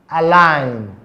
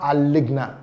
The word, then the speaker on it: align: The first one, can you pronounce align, not aligna? Align.